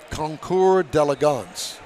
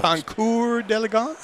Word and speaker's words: Concours d'Elegance: How you really pronounce Concours d'Elegance is the way it's pronounced. Concours d'Elegance? Uh-huh. Concours d'Elegance. Although it looks like Concours d'Elegance. No, it's not. That's maybe the hillbilly way of pronouncing, but come on over